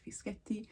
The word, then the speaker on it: Fischetti: Just think of it in sections, so Cristallina and then Fischetti. Sounds like spaghetti. But yes, in any case, it's a double pressing on the T, Fischetti, like spaghetti.